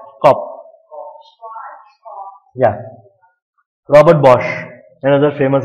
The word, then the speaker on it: Kopf: Kopf. The P has to be pronounced. Kopf.